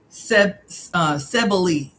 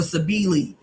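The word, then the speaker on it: Cybele: Sebeli or Sabili or Sabele, different pronunciations.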